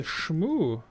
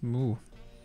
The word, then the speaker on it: Smu: It's the Shmoo. It's pronounced Smoo.